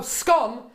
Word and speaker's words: scone: Everyone knows it's jam then cream and it's pronounced scone. Oh, scone to rhyme with one.